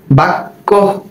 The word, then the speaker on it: বাক্য: যেমন কহ, বাক্য। একবার বয়ের সাথে কয়ের যুক্ত হলো বাক, আবার শেষে আরেকটি ক চলে আসলো ওকার যোগে, বাক্য।